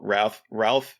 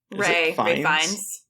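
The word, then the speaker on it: Ralph Fiennes: Ray Fiennes. Oh, is it Ray? Why did I say Ralph? I think it's Ray Fiennes. It's like, so it's weird. It's like, you don't pronounce it like Ralph.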